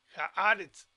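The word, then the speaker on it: הָאָרֶץ: j acá y luego aquí está el acento en la ahora no en la e si no cambio a a y los reds entonces es hearts hearts haáretz porque la aceptaba en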